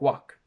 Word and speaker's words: wok: They will say wok, wok, wok, wok. But in English, these each have a completely different sound. We have woke, we have walk, work, and wok.